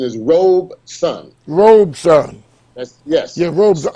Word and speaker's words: Robeson: And by the way, Brother Munir, a lot of people call Paul Robeson, but actually the proper pronunciation is Robeson.